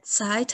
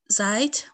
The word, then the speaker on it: Zeit: دوستان در مورد تلفظ Zeit هم دقت کنید. اگه بگید Zeit متوجه نمیشن که منظورتون چیه. باید Zeit بگید.